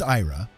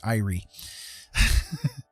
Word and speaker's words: Ira: So anyways, my point is, my grandma, my name is Ira, you know, pretty easy to pronounce, right? And you would think that your grandma would know how to pronounce your name, but nope, she always called me Irie.